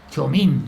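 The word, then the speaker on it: Txomin: Chomín, se llama Chomín TX. Iturbe. Es que la TX Ya, te pronuncia CH, como el Ochoa TX.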